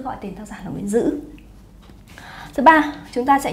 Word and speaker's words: Nguyễn Dữ: Tác giả, tên tác giả có người đọc là Nguyễn Tự. Và có một số tài liệu thì khẳng định rằng tên tác giả chính thức là Nguyễn Dư.